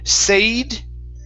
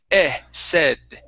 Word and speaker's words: said: let's go to okay the word said right here instead of sayed okay with a long a a sayed it's a short e sound said said uh-huh very nice